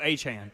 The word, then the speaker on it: Achane: say his name because I thought it was Achane the entire time he was at A&M, and then it went from that to Achan. They are both Achan.